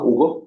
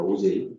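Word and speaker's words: Auger: 이거는 가끔 시험 문제도 내는데 다음을 어떻게 읽는지 한국말로 써보세요 하면 책을 안 읽은 학생은 이건가? 오거? 뭐 이렇게 발음해요. 큰일 나요. OJ입니다. OJ.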